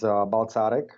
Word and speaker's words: Balcarek: So the proper Slovakian pronunciation is Balcarek. But after living 16 years in Australia, I have gotten used to the name being pronounced exactly like you did.